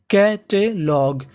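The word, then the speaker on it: catalogue: आपको इंग्लिश की मीनिंग के आखिरी में जी यू ई लिखा मिले तो आपको उसे ग पढ़ना होता है। तो मीनिंग क्या बनी? कैटलॉग।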